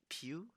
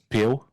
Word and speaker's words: Pil: Então a gente tem agora um novo coach, Pil. That's actually how you pronounce it, Pil.